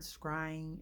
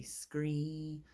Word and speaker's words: scrying: I don't really like the word scrying. It kind of seems weird. People sometimes say it wrong and say scree.